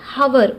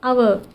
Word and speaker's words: hour: అలానే an examples లో if we observe the word our, h is silent here. It starts with vowel sound. We don't say hour, we say our.